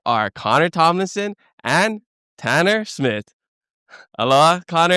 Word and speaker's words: Tomlinson: It's actually pronounced Tomlinson. Tomlinson. Yes. So it's like Linson, not Linson. Or Tom Olsen. And it's L-I, not I-L.